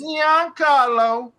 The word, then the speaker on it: Giancarlo: Giancarlo.